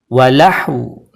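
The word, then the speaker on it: وَلَهْوٌ: berharakat sukun ketika diwaakaf Bagaimana cara bacanya yaitu sukunkan huruf wawu sempurnakan sukun pada huruf ha dan berikan bunyi vokal pada huruf wau contoh ini terdapat dalam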